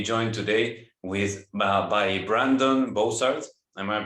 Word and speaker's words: Bozarth: I'm very happy to be joined today with by Brandon Bozarth. Am I pronouncing it correctly?